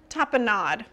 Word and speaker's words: tapenade: I don't love it with the, is it tapenade? Tapenade. Nade? I don't know, guys. Hey, Google. How do you pronounce T-A-P-I-N-A-D-E?